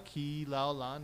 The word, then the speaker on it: Kilaulani: applause for Miss Kayla Kilaulani. Woo! Oh, you said it right. Some people don't say it right. You gotta say it slow. I know. You say it how it's spelled.